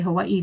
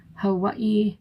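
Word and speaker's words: Hawaiʻi: Some people don't like when people say Hawaii, but that's how it's said. That's why it has a little apostrophe. Hawaii. And if you hear the locals say it, oh, it's even better.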